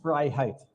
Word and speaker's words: Freiheit: is that right now my last name is fry Heights freedom in German so it's a it's